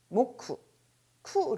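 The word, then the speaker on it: 木: 나타내는 단어가 되겠죠 자 발음은 뭐 큭 모쿠 로 끝이 나게 됩니다 자 목요일 우리 왜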